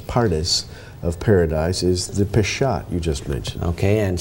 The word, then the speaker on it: Peshat: P-E-S-H-A-T, I guess, is the way we would spell it.